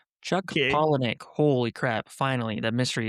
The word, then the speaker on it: Palahniuk: He tweeted, "It's pronounced pollenic." You said it right. Nope. I said Polanoic. I said it super wrong.